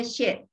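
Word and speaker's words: xue: She itu artinya darah ya, She, S-U-E tulisannya, tapi bacanya She, ya, Ji She.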